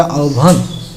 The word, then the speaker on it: আহ্বান: আহ্বান উচ্চারণ হবে আহ্বান।